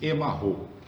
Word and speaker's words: Emaho: não me engano, tibetana, que se pronuncia assim, Emarro, né?